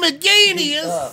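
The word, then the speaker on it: McInnes: Gavin McGinnis! Finally, somebody's pronouncing Gavin's name correctly.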